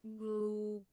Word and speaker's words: glup: So, it's spelled G-L-U-P, but it's pronounced... Gloop.